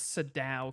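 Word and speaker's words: Sadao: Pretty sure it's Saddow Kawakami. SOD. Is that how you pronounce it?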